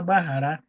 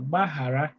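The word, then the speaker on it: gbaghara: Is that difficult one to pronounce and the way you master Bahara is to remember that G is silent but everything else pronounced. So Bahara that means forgive.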